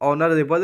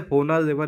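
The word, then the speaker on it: honorable: ठीक है, आगे देखिए, ऑनरेबल मैन, तो ये ऑनरेबल है, होनरेबल नहीं है, तो यहाँ पे एच साइलेंट रहेगा, तो इसके आगे हम सब एन का यूज करेंगे।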